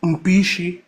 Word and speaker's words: Mpichi: Now that guy name is Mpichi. That is the right pronunciation, meaning horn of head.